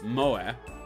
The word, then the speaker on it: moe: Coined in Japan in the 90s, moe, pronounced as moe, why thank you, derived